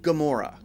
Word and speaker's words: Gamora: stressed more than others when we say Gamora which syllable are we stressing or we putting focus on are we stressing good or more or us a three syllable word Gamora Gamora Gamora well we're stressing more so when we don't